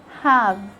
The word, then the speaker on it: have: Letter E is silent when it comes at the end of a word, like when you say give, have, some, before. And sometimes the silent E